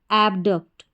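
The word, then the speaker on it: abduct: तो पूरा उच्चारण क्या हो गया, ए बी एब और डी यू सी टी डक्ट, एबडक्ट, एबडक्ट।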